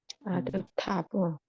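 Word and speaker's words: עֵדֹתָיו: 그런데 여기에 이 카메츠 아가 있고 요도하고 바브가 있을 적에는 아이브라고 하지 않고 아이브라고 발음하지 않고 아브라고 발음을 한다. 아드타브. 에도타 그래서 탑으로 읽으셔야지 타이브라고 하시면 안 돼요.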